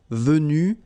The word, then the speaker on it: venus: So basically you get the pronunciation venu, venu, venu, and then the same thing, venu, you don't pronounce this final Venu, you don't pronounce the final S.